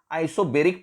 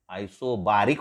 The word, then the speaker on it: isobaric: नाव आइसोबेरिक process. बेरिक आयसोबारिक म्हणा किंवा बेरिक म्हणा, तुम्ही प्रोनाउन्सिएशन काही करा, फक्त स्पेलिंग व्यवस्थित लिहायचंय.